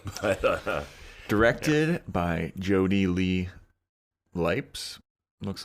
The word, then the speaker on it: Lipes: But, Directed by Jody Lee Lipes, looks like. Lipes. You say Lipes? Lipez? Lipes? Lipes? Lips. Lips. This is the pronunciation part of the podcast.